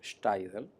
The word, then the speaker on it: Steidel: El bisabuelo de mi padre, Hermann Steidel, así se pronuncia en alemán el apellido, provino de Alemania y se estableció en Maunabo.